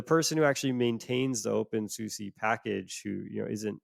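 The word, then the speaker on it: openSUSE: said oh the open I don't know how you pronounce this it's open s-u-s-e open Susie but but that uh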